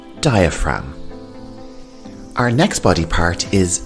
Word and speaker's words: diaphragm: And the G here is silent diaphragm.